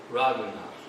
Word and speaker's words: Raghunath: Well, there's a difference between Ranganath and Raghunath.